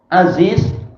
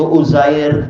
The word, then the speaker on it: Aziz: Ihab bi kasril hamzah, Aziz bi fathil ain, wa bi zai mukarrarah. Baik, agar orang tidak salah baca, yaitu Uzair barangkali, atau Urair atau Arir, maka dijelaskan ini adalah ainnya di fathah dan ini pakai zai yang terulang.